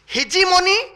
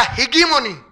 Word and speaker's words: hegemony: उसको बोलते, दो प्रोनाउंसिएशन है उसके, हिजीमोनी या हिगीमोनी।